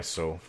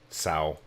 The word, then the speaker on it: SoW: Yeah, I took away my soul. Sow. I know it's pronounced sow. I've always said so, though.